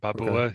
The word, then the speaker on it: Babboe: You asked me how to pronounce it. Babboe, Okay. Babboe.